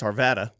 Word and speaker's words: Arvada: him credit at least he knows how to pronounce Arvada not like some people in this town who